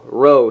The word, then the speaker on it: Rho: awaited row Squad and yes that's how you spell it as displayed on your screen right there r h row Squad this is backer